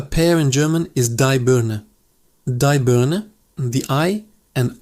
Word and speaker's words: Birne: A pear in German is die Birne. Die Birne, the I and Ari are pronounced clearly.